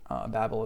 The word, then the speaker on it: Babel: Babel is how you say Babylon in Arabic.